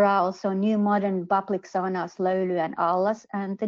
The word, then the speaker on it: sauna: Sauna, or actually sauna as we pronounce it, is probably the only Finnish word everyone around the world knows without knowing that it is Finnish.